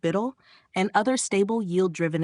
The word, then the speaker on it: BUIDL: funds like black rocks buidl pronounced Biddle and other stable yield